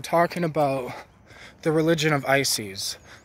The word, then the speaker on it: Isis: about the religion of Isis so Isis or Isis but pronunciation is technically ices is this Egyptian goddess